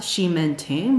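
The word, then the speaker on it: Ximending: part of the video It's pronounced shim menting by the local so just know that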